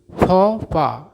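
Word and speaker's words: faux pas: देखिए ये जो फौपा है इंग्लिश का वर्ड नहीं है, किसी दूसरी भाषा का वर्ड इंग्लिश में यूज होता है, इसीलिए इसका उच्चारण कुछ अलग तरीके से होता है।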